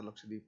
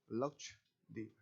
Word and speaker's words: लक्षद्वीप: ही नहीं रहा था लक्षद्वीप है, तो लैक्काद्वीप्स, क्या कह दिया, लैक्काद्वीप्स। तो ये लैक्काद्वीप्स नहीं है, ये क्या है, लक्षद्वीप, ठीक है, लक्षद्वीप।